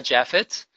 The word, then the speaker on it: Japhet: so much for tuning in my name is pronounced gila Jeff it I'm the founder and CEO of my heritage